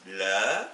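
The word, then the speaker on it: لا: Et si vous tapez, donc, on aura le alif, le lem qui se prononcera le, et le alif qui se prononce a, ça nous donne la, qui veut dire non.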